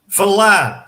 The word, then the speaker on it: falar: I've broken it down to syllables here, but I'm going to add an extra bracket here because I want to talk a little bit about these two different A's here. We have two very different A's here in this word. We have th, which is a soft sort of an A, and then in the second syllable we have la, which is a pressed accented A.